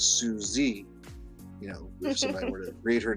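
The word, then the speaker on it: Suzay: and she um her name i think is spelled s-u-z-a-y so it looks like suze but she always corrects people as no it's susie you know to read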